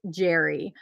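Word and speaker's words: Jere: sent me the listing she said it's pronounced jerry probably because she knew i'd be like jer jer jur it's jerry so she gave me a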